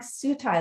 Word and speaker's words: Sutai: I would have to break my kids' names down phonetically. So they would, like my daughter, we call her for short Sutai. And so I'd have to say, okay, S-U-E, because they were like, what?